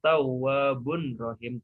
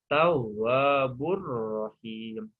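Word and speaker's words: تَوَّابٌ رَّحِيمٌ: Dibacanya tawwabur. Jadi idgham itu hukum tanwinnya dihilangkan, dimasukkan kemana? Ke ro ya, dileburkan. Jadi tawwabur, bukan tawwabun rohim, tapi tawwabur rohim.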